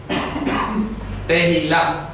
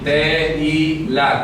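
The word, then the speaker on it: תהילה: Tehilá, ¿ok? Se pronuncia así, tehilá, con T-E-H-I-L-A-H, tehilá.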